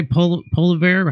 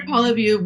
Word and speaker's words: Poilievre: Poliver? How do you say his name? Pierre Poilievre will be running as the leader for the federal conservatives.